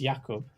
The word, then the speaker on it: Jakub: So Jakub, which is the right way to say it now that I know he's Czech, it's Jakub. Started with a HO with